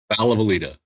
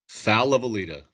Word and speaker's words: Falavalita: Tell me how to say your last name. Falavalita. Say it one more time. Falavalita. Valavalida. Yes. Okay. So Pronounce every David, letter and you got it.